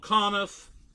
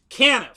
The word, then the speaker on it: Caniff: to mine and so I've been called conif Caniff uh dumbass but Canada is is the correct pronunciation but again I don't